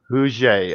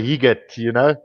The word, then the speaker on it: Huget: Because Huget. Oh, okay, Huget. Because I would say Higet, plain Yeah. South African flavor to it. But you say what's it again? Hugen or what? Huget.